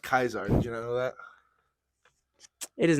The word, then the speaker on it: Caesar: Caesar oh that was Julius Caesar yeah it's pronounced Kaiser you know that it is not pronounced kaizar are you being serious hold on Julius Caesar